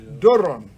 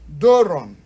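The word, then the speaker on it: δῶρον: in english is n so with the help of this i guess you'll be able to pronounce this word it is called doran doran doran have you seen how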